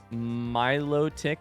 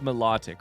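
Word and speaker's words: Milotic: Miloic. I've heard that one's melodic, right? Melodic. Like me almost like melodic. Like it's a melodic thing. It's a song thing, right?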